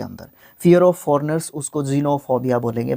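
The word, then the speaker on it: xenophobia: Fear of foreigners, उसको जीनोफोबिया बोलेंगे। भाई साहब एक्स को ज़ प्रोनाउंस किया जाता है, ज़ आधा ज़, ठीक है।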